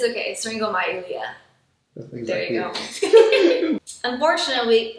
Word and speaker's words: syringomyelia: heart conditions, and how common are spinal problems, syringomyelia? I can't pronounce this. It's okay, syringomyelia.